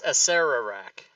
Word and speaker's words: Acererak: That It's Acererak, not Acerak.